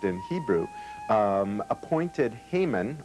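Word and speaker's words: Haman: in Hebrew um appointed hmon or hamon as he is pronounced in Hebrew hamon was a descendant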